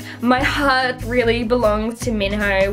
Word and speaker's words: Minho: heart really belongs to Minho which is how I pronounce his name but the movie pronounced like minu but um yes he's